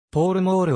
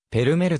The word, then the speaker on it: Pall Mall: を開始したポールモールはアメリカ風の発音でありいいイギリスではペルメルと発音する名前の由来は